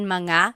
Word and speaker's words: mga: something plural, you have to add the word mga. So mga kids, but in the question form, you don't have to add manga because it's already implied.